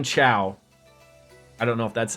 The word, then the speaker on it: Cao: So they're saying Chow, but spelt C-A-O. So they're saying Chow.